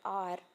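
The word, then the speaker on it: hour: So here in the word R, the first letter here is H and its sound is O, because we are pronouncing H-O-U-R as R.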